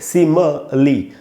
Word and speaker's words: simile: तो दोस्तों, ये है इसकी स्पेलिंग SIMILE, और इसका जो प्रोनाउंसिएशन है वो हमको ज़रूर सीखना चाहिए। वो लिखा है मैंने यहाँ पर, वो है सिमली। म के बाद आधा अ है, यानी म पर थोड़ा सा रुकना है आपको।